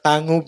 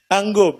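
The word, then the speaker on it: Tangub: gay taga tanggob salay pag pronounce tangob No tanggob no alr so nauban dili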